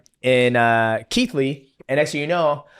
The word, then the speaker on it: Keighley: And this place, Keighley? Keighley, yeah. You spell it nothing like that, and I know.